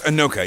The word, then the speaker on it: Inoka: And so over here we're at Inoka, and is it pronounced Inoka? Yeah. So it's Inoka, yeah.